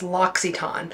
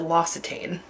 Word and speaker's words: L'Occitane: lockitan hand lotion l'occiton I recently learned I've been saying it wrong it's loxiton I used to call it L'Occitane all right this is